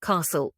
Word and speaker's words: castle: I want you to try to identify the silent letter one Castle colorat what's the silent letter answer ET t